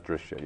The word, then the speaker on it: Drishya: even call it Prakriti actually, or Drashtra, or Drishya actually. Okay, D-R-Y-S-A. Yeah, that's Drishya, yeah.